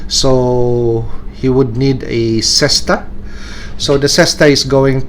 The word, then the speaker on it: cesta: Okay, so harking to how the player or the High Ally player would look, so he would need a cesta.